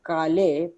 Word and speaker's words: calle: Voy a salir a la calle, pero no a cualquier calle. Cualquier calle. Cualquier calle. Read it once again. Voy a salir a la calle, pero no. Double L is pronounced as liya.